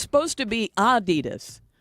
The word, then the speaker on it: Adidas: It's supposed to be Adidas with a slight emphasis on the first syllable, not Adidas stressing the second. Adidas.